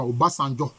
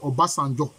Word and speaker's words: Obasanjo: La bonne prononciation, c'est ça, Obasanjo. Voilà. En Yoruba, c'est Obasanjo. On dit Obasanjo, mais c'est Obasanjo.